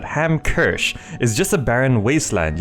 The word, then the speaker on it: Hamkirsch: at the moment hamers how do you pronounce it ham kersch is just a Barren